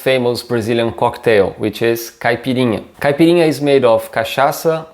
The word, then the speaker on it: caipirinha: the pronunciations here are caipirinha again this nya sound and kashasa again the ch here sounding more like an sh in english and